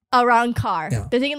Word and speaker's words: Arrancar: The Arrancar. Arrancar.